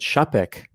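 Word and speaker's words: Czapek: reserve here i mean zapec is i hope i'm saying that right it is pronounced is it chapek to be thank you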